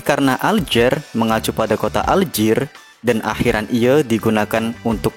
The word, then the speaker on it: Alger: ini menyisakan kata J kata aljer atau lebih tepatnya alji dalam bahasa Prancis merupakan pelafalan orang Prancis untuk kata alzair yang